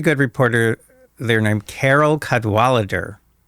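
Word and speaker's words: Cadwalladr: So, there's a very good reporter there named Carol Cadalader. The last syllable is kind of interesting. It's because it's there's no vowel. It ends with Dr. Carol Cudwalader.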